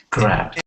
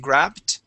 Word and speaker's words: grabbed: Grabbed. And okay, good. Now we want to pronounce a D sound here. You're producing a small T, saying grabbed.